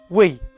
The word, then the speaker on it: oui: if you speak french well duh of course you do so you'll reply with we now it's spelled o-u-i but it sounds like we like w-e women love